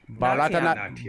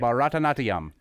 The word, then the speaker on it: Bharatanatyam: Bha Bha ra ra ta ta na na tyam tyam tyam tyam natyam Bharatanatyam Bharatanatyam Bharatanatyam Okay.